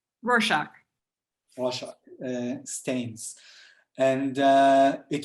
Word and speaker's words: Rorschach: mirror uh stains like uh rockshark do you say warsaw how do you say it darcy rorschach russia stains and uh